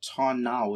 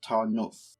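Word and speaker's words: Tarnów: i found that out the same way that tan now is actually pronounced tarnov so what are we doing this session well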